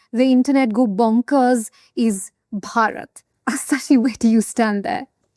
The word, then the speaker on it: Bharat: One name that has the internet go bonkers is Bharat Assachi. Do you stand there? That's where I absolutely insist. When I speak in Hindi or Mallayalam, I say Bharat and when I speak in English, I say India.